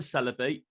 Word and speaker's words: Celebi: You know, I like the Celebi. I pronounced it right that time.